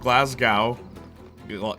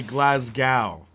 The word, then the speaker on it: Glasgow: that's not my fault there's a w you say Glasgow like a cow that's how it's said Yeah by you weirdos